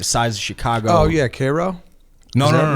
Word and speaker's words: Cairo: Oh yeah, Cairo. No, Is no, that- no, no, no. Cairo. Cairo? Yeah, Cairo. Cairo? Yeah. It's pronounced Cairo.